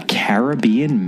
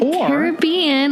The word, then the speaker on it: Caribbean: And the novel that we are covering in this episode is a Caribbean mystery. Is it Caribbean or is it Caribbean, Kemper?